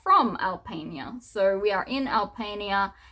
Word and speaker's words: Alpania: Then we have Albania. That's how you pronounce that one.